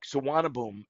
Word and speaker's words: Suvarnabhumi: Like Suvarnabhumi is the airport. That is the way you pronounce it, but you would never guess it if you could never spell it unless you actually saw the spelling.